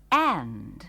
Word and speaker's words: and: suatu kata lain yang berguna ialah And. yang artinya dan. Kata ini juga diucapkan dengan cepat sekali. Dan huruf D dalam kata itu biasanya tidak diucapkan.